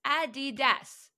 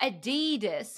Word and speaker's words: Adidas: my gosh add addas Adidas not aidis it's not an e or a double e it's an i between the D's it's like a did